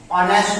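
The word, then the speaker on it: honest: नाउ ऑनेस्ट मैन में भी article an लगेगा, क्योंकि यहाँ पे जो आपका एच है, बिकॉज ये साइलेंट लेटर है, और उसके बाद जो ओ है, इसे हम पढ़ेंगे ऑनेस्ट।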